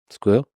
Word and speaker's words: SQL: flavors of squel uh by the way pronounce SQL versus SQL is squeal squeal you sque sque I think is the correct way squeal I did sequel because I didn't you know I didn't know the audience I don't I know